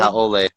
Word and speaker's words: haole: Haole. That's how you pronounce it.